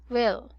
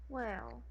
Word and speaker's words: will: well will will there will it's a short I so it should be pronounced as okay okay again well very good will cuz